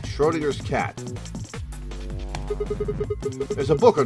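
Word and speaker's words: Schrödinger: probably need a key or something all right Schrodinger's cat there's a book on top of the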